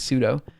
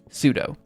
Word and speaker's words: sudo: of sudo I mean I suppose you probably supposed to pronounce it Super User do but I mean it's always pseudo um let's see oh man